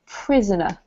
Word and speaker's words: prisoner: and this one here is not pry but prisoner prisoner yeah there you go perfect